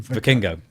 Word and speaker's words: Vikingo: After WWE bought controlling interest in AAA, Dave described, how do you pronounce his name? Vikingo.